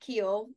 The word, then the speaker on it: Kuehl: It's we normally say Keel, which Yeah, is how you say it. But at the racetracks, I mean, it would just the announcers would be Kuehl.